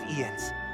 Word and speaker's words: Jens: One day, all will know the name of Ian's, the greatest smithy Ian's. the realm has So ever seen. The J is silent?